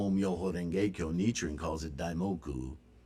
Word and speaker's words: Renge: It's kind of a rolled R there. It's a lot like Spanish or Latin language. Renge. Not renge like Americans say it, in the back of your throat. Renge. Renge. Just roll it a little bit.